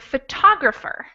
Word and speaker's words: photographer: next line we have the word photographer where you can tell that the second syllable is the stressed syllable or the most important syllable out of the four syllables and the last one